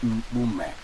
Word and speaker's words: Mpume: My name is Mpume. Look at even how it rhymes with your own name, Mpoloma.